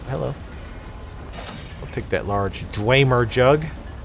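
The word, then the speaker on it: Dwemer: I'll take that large Dwmer jug. And it is pronounced Dwr.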